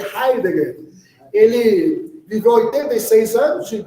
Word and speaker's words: Heidegger: É um alemão, né? Por isso que pronuncia Heidegger.